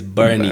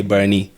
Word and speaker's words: Bernie: Then, mine is Bernie. It's almost like you're saying Bernard, but you say Bernie.